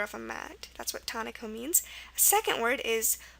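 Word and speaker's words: taniko: First one is tonico, tonico, which is T-A-N-I-K-O.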